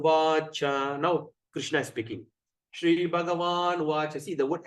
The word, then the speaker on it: Shri: Shri Bhagavan Uvacha. See the word S at the apostrophe. How are we going to pronounce? Shri. S-H-R-I.